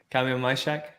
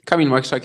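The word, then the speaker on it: Kamil Majchrzak: come again yeah I just haven't heard you pronunciation Kam mshack yeah that's good Kam mhak yeah uh he has had a doping case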